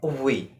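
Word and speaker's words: wir: you very much okay the next word is v v in English and in German we said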